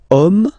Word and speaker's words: homme: we've got the word homme, man, okay, but then it starts with H, as in French, H is not pronounced, so the first sound that we hear is O, okay, and then it will follow the same rule.